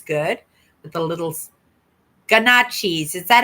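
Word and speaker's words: gnocchi: The G is so nochi.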